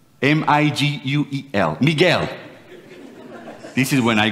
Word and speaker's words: Miguel: he called Miguel this is my name Miguel m-i-g-u-e-l Miguel this is when I go for asking